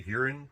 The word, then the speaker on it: Huron: this one was from Huron yes it was it was from here like we say Huron they say hearing so we're not quite sure yet everybody here says hearing a lot of the